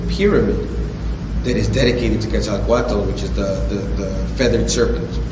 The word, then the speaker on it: Quetzalcoatl: And what you had talked about was the Christ figure of Quetzalcoatl. Am I pronouncing that right?